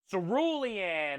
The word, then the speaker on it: cerulean: And I've been pronouncing it wrong basically my whole life. Cerulean. It's an S, not a C.